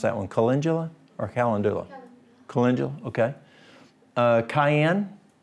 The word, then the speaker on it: calendula: Aloe vera, burdock root, cabbage, calendula. How would y'all pronounce that one? Calendula or calendula?